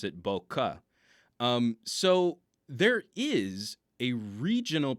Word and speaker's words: bokeh: while holding Canon cameras, the closest is Bokeh. But then they explained sometimes it's a bouquet, where it almost sounds like a bouquet of flowers, like a bouquet of flowers.